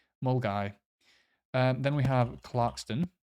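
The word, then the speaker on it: Milngavie: and this one's fun how would you pronounce that there's any at the end mgab it's mul guy mul guy um then we have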